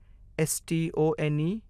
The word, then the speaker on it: stone: अगला शब्द, S T O N E, हम E को भूल जाएंगे। हम O का नाम लेंगे, जो कि 'O' है। एस टी एक उद्देश्य से जुड़ा शब्द है। S T 'st' है, S T O N E stone बन जाता है।